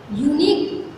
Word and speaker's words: unique: Right answer is Taj is a unique building in the world because here unique is pronounced with the U.